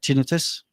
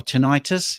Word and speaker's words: tinnitus: I'm 60 now, and all that time I had tinnitus, or tinnitus, if you want to make the Americans happy, because I think that's how they pronounce it.